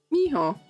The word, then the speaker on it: Miho: Miho. Mijo. So you do pronounce it like the Spanish.